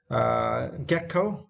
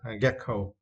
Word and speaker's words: gecko: Gecko, and for this word you need to straight the first syllable.